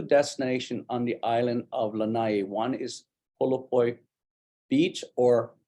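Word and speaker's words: Lānaʻi: If you call it Lanai, that means someone's back is hurting. And if you pronounce it Lanai, that means porch. If you say Lanai, that means the island of Lanai.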